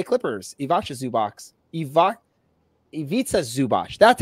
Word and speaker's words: Zubac: for the LA Clippers iasa zubac IAT iita zubach that's how you say it iita zubot um